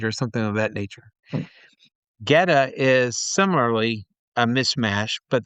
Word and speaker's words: Goetta: I tried to order it assuming that it had more of the German pronunciation mm. because that's who came up with it, German immigrants to the region. It's a Goethe.